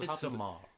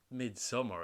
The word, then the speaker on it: Midsommar: Everything about this film, and it's also in his follow-up Midsommar, but Midsommar is not as consistently. It's just summer. It's not Though. summer. Because Midsommar. But it happens in midsummer. Yeah, but it's not Midsummer.